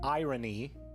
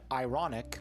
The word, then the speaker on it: iron: Why do we pronounce the R in irony and ironic but not iron?